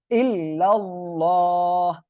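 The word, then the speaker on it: إلا الله: ওটা আসলে মিস্টেক ছিল তাহলে এখানে হবে ইল্লাল্লাহ এই যে আল্লাহ শব্দের লামের ডাইনে জবর আসছে মোটা করে পড়তে হবে ঠিক আছে ওকে তাহলে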